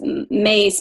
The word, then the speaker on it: Myss: And her last name is pronounced Mace, but it's Myss.